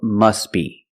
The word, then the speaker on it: must be: must be must be the t is silent because it's between consonants when you link the